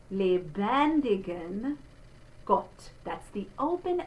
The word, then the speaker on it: lebendigen: So it, like in is, not in, but in, dem, there's the closed E, lebend, we have a closed E followed by an open E, lebendigen Gott.